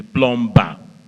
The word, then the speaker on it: plumber: people will say go call me the plumber that second B that B that that b is silent so what should it